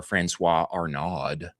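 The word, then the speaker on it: François Arnaud: They have a uh an athletic retailer announced a campaign starring heated rivalry star Francois Arnod. That's how you say his name last month.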